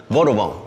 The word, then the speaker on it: Vadouvan: We call it Vadouvan. Three syllables, right? Vadouvan.